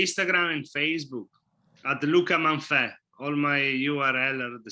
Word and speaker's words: Manfe: Manfe.